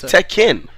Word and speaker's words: Tekken: just just say Tekken just say it's techken I know it's it's